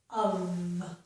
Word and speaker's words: of: Here's a very common word, the most common word, where the letter F makes the V sound. This is the word of. You will probably only see the letter F making the V sound in this word.